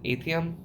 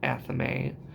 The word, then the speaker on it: athame: And when you look at the word, I always said Athames. I don't know why, Athames, because I'm terrible at pronouncing words. I don't know if it actually looks like Athame or I just am really, really bad at reading. But it's an Athame.